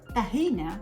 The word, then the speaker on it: tahina: So the word tahina, which is how they pronounce it now these days, tahiniya in Arabic, comes from the word yathan.